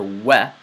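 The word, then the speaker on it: و: Similar to these words in the English language, the letter we is pronounced like this. Wiper, wet, wilt, wean. We. I'm sure you're starting to hear the difference. But it is not pronounced like a V.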